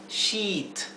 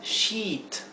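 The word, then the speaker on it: sheet: de noche para dormir se pronuncia She She una I larga She Pero muchas muchas personas de habla hispana lo pronuncian con una I corta entonces son la palabra shit cuando no se pronuncia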